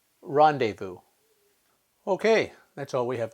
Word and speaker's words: rendezvous: silent which words contain the silence is to either look in dictionary at the phonetic spelling or just to remember them because there aren't that many here are a few examples Island debris rendezvous okay that's all we